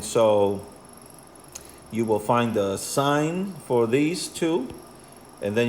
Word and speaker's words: sine: is abbreviated si n it's not pronounced sin no that's what you have you are a sinner it's still pronounced sign anyway so the sign